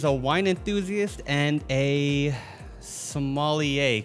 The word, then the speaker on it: sommelier: Sommelier. Yeah. You know, the funny thing about that is it's spelled sommelier.